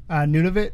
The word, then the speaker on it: Nunavut: Nunavut is the name of a territory. Or Nunavut, depending on how you say it.